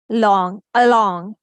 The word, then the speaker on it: along: Along, around, about, above. Letter A is saying the shua sound because this is unstressed syllable.